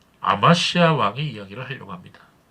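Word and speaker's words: אמציה: 주일에 있어서 요아스의 왕 아마시아 왕의 이야기를 하려고 합니다이 아마시아 좀 더 정확한 발음은 히브리어로 아마치 아입니다 아마치 여러분 그 본문에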